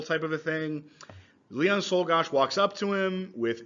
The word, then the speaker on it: Czolgosz: Czolgosz is how you pronounce that.